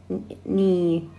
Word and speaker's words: knee: We have here the letter K. We don't spell K. ممنوع الفضة K. It's silent here. الحرف صامت هون ممنوع الفضة. نرفض ني. نرفض الكلمة ني without K. So K is silent.